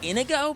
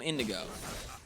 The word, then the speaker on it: Inigo: It's Inigo, but I want to call him Indigo.